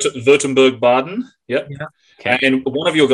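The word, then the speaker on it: Württemberg-Baden: You're gonna have to pronounce these, Clint. Württemberg Baden. Württemberg Baden.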